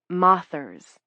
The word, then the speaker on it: mothers: They call moth watchers moththers. Spelled like mothers, but not said like that.